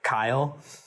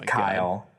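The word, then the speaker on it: X Æ A-12: that you pronounce it Kyle because it I don't remember the middle part but it's the AE is pronounced like I mm-hmm and the 8-12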